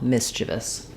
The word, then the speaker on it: mischievous: mischievous, but it's really 3 syllables. So rather than mischievous, we can think about it like mischievous. I think we use more of an I sound here rather than a schwa, mischievous.